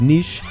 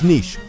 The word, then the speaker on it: niche: niche by the way it's pronounced niche not unique people say it's it's nitch sorry again I don't